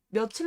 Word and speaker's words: 며칠: 어떻게 해결해야 발음이 몰론 하자며 7로 바르면 되요 며칠 로 바람이 된단 말이야 발음 자체라 이거 그러면 어떻게 해야 돼요 그러면